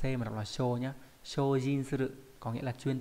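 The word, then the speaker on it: 精進: Và trong từ này nó không đọc là C mà đọc là sho nhá. Shojin suru có nghĩa là chuyên tâm cống hiến.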